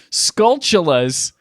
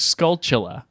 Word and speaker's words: Skulltula: you guys know that the spiders in Zelda are pronounced skull chilla not Skulltula or Skulltula it's a portmanteau of skull and tarantula we just learned that